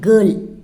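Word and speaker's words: घर: கர் இல்லை, கர்.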